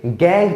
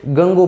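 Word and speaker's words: gangue: Chemistry की लैंग्वेज में, खासकर मेटलर्जी में, उसे गैंग पार्टिकल्स कहा गया है। ठीक है, कई स्टूडेंट्स इसे गंगो पढ़ते हैं। डेफिनेटली इट्स रॉन्ग प्रोनाउंसिएशन, आपको इसे गैंग पार्टिकल्स ही बोलना है।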